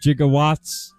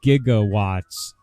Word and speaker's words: gigawatts: work gigawatts he's actually my electronics engineering teacher made an example out of that movie and said he's saying it wrong it's gigawatts it's not gigawatts and a scientist of